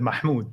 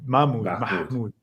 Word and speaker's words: Mahmoud: So actually, the first one that you said, Mahmoud. Mahmoud. That's the perfect way. Some people Okay. say Mahmoud, and that's not okay. But Mahmoud is perfect.